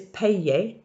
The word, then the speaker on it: payer: So the infinitive is payer, the little y between the pe and the e, payer. and then it conjugates.